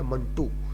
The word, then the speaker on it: منٹو: اس کو ایسے منٹو جو صحیح تلفظ ہے وہ بول جاتے ہیں، صحیح تلفظ ہے منٹو، جس طرح 1-2 ہوتے ہیں.